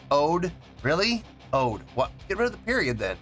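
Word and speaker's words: O.de: he's the one with the goggles O A pronounce like OD really OD what get rid of the period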